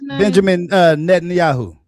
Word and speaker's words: Benjamin Netanyahu: Uh Benjamin Netanyahu.